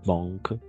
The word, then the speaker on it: banque: No es banque, sino O, con O, como en France, banque. Siempre que haya esa combinación A-N va a ser O-N para nosotros.